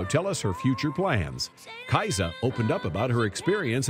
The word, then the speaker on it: Kiesza: I've heard several pronunciation the most correct version which nobody says is Caixa there's a Norwegian name but everyone calls me Kaiser there's so many layers